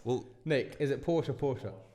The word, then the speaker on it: Porsche: I think we're both going because I haven't seen the Porsche. The Porsche. It's not Porsche. It's Porsche. It's Porsche. No, it's not. Well, Nick, is it Porsche?